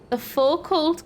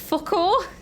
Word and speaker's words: Foucault: The focal current. Apparently it's French and it literally pronounced Foucault.